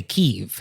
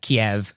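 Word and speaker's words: Kyiv: the city of Kev you could say keev if you wanted to do the Ukrainian pronunciation oh wow and so you're actually making a choice if you say like Kiev to a Ukrainian person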